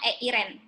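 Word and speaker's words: εἰρήνη: damai itu disebut Eh Irene Irene bacanya eirn hal-hal Aqua kita bisa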